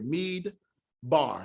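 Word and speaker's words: מִדְבָּר: Mead, mead, meaning the mem, which is an M, and the dalet, which is a D, with the vowel cherek here, which is the I. So you have mead that closes the syllable. That's letting you know there's a stop here. Mead bar.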